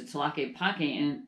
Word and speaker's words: Tlaquepaque: a which I had to learn how to pronounce but I did a little research into tlaquepaque and it's this pueblo meheeco this magical town